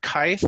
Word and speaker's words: Kythe: Kyle what is kife the name kite is actually rhymes with scythe if you like it